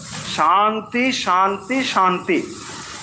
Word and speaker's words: শান্তি: কিন্তু যখন আমরা শান্তি উচ্চারণ করব তাহলে মনে রাখবো এটা হচ্ছে তালবস্য। শান্তি শান্তি শান্তি, এটা শান্তি নয় বা শান্তি এটাও নয়।